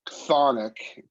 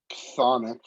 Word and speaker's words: chthonic: But it really has a lot to do with his role as a chthonic, and that's chthonic. I know that CHTH it's sort of tough to pronounce, but it's chthonic deity.